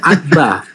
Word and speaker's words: Abba: Alef bet. Dan itu dibaca Abba. Abba, A-B-B-A.